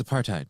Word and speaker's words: apartheid: I by the way despise the way Bill Maher says apartheid because it sounds like he's trying to be the smart guy in the room by pronouncing the th and apartheid.